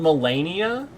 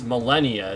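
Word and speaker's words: Malenia: So, is her name do we it like is she actually called Mellennia? This is what people call her. Mellennia. If I pronounce her name phonetically, it's Millennia. It's just spelled differently.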